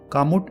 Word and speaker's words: Kamut: and other important information about this rare superfood pronounced mood kamut is an ancient type of wheat grain is